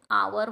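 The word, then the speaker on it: hour: का बरं कारण याच जे प्रोनन्सशन आहे ते काय होते अन आवर होते एच इथ काय सायलेंट आहे इथे सुद्धा अन ऑनर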